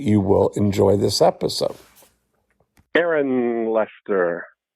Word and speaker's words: Aaron: Aaron Lester. Hi Dean. How are you? I'm good. Or is it A-A-Ron?